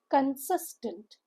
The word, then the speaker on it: consistent: Now consistent a very beautiful word again consistent. a three-cllable word. Stress is on the second syllable. Pronunciation guide again teaches you that C makes C sound. So, it's consistent.